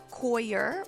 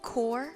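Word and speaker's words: coir: was editing this video I noticed that I miss pronounced the word coyer and said the word core when I was referring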